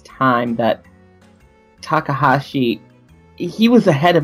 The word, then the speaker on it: Takahashi: I can't say his name right but Takahashi Takahashi thank you if there's one thing I could